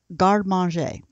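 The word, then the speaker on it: garde manger: and the term we're going to explore is garmanjae let me spell that for you m a g-a-r-d-e-m-a-n g e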